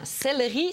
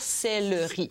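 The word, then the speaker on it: céleri: u au u céi c'est du celleri exactement celleri ça se doit se prononcer toujours celleri et c'est normal quand la syllabe qui suit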